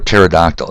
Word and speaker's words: pterodactyl: P is for pterodactyl. You remember that fictitious dinosaur bird with the big wingspan? P-T-E-R-O-D-A-C-T-Y-L. Why does pterodactyl start with a P? They don't say it.